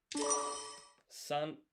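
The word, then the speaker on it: さん: San Sorry, I'm I'm skipping ahead. So, three in Japanese is san. To write this in hiragana, sa would be this. And then this is n, so that's san.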